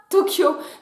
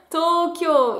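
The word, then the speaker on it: 東京: la ville de tokyo ne se prononcent pas tokyo mais bien tokyo il a deux allongement sauf que en caractères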